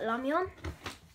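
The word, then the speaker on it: 라면: In Korean, we call it ramyeon. We don't really pronounce R's. So, here is another Sword and Shield pack.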